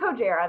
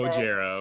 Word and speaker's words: Hojara: So, but it's Hojara. That's how I pronounce it. Hojara, okay.